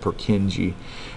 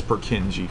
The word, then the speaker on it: Purkinje: the scientist was a Czech scientist named Purkinje, we pronounce it Purkinje. Number six is called the Purkinje fibers. I don't remember if it's Purkin or Purkin. Hold on a second here. Yeah, it's Purkinje fibers. Purkinje. And the Purkinje fibers cause what to happen?